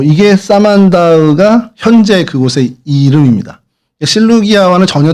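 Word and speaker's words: Samandağ: 실루기아가 한군인데 어 근데 이게 사만다흐라고 이제 사만다으라고 읽는 이제 터키어로 그렇게 읽어야 되는데 어 이게 사만다흐가 현재 그곳의 이름입니다.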